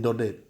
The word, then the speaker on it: Daudet: by Alphonse Daudet now here in da de the East mute because it is a friend sore and in France we don't pronounce the last consonant or the consonant cluster the last lesson is